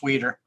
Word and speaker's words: Weider: That's Weeder. Weider, thank you. All right, I was doing the German pronunciation.